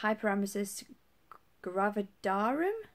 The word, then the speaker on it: hyperemesis gravidarum: I was pregnant I have been diagnosed with hyperemesis gravidarum that's how you pronounce it I've not been very well at